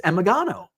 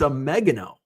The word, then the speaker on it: Omegano: It's like, it's Emigano. And he's like, no, it's Omegano, like oregano.